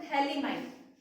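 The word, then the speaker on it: phthalimide: और इसका नेम क्या है, इसका नाम है थैलीमाइड, P साइलेंट रहता है, ठीक है। तो ये इसका PH साइलेंट रहता है, PH, एक बार स्पेलिंग चेक कर लेना, PH THALIMIDE।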